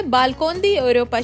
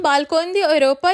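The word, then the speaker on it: Balcón de Europa: चलते हैं यहाँ के सबसे खूबसूरत और मशहूर व्यू पॉइंट के ऊपर, जिसका नाम है बालकोन दी यूरोपा, शायद ऐसे ही प्रोनाउंस करते हैं।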